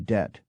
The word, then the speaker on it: debt: these inserted letters were as silent as the b in debt but eventually they became